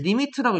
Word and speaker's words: lim: 기호 읽는 방법도 얘기해줬죠 lim이라고 쓰고 읽을 때는 리미트라고 읽으면 됩니다 리미트 x가 4의 4로